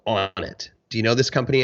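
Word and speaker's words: Onnit: Joe took a stake in a company called on it do you know this company Andrew the supplement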